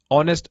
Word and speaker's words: honest: An apple, an R, an honest person. Note R is pronounced with an A sound, which is vowel sound, and honest starts with a silent H.